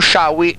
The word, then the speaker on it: Sciaui: Ci scusiamo con Sciaui, e questa è la pronuncia corretta del suo cognome.